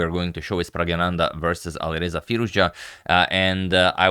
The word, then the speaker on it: Praggnanandhaa: It's, the stress goes on the first na, not on the second na, so it's actually Praggnanandhaa.